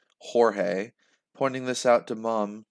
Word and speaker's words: Jorge: Mum and Lisa called me George, and everyone pronounced the name the Spanish way, Jorge.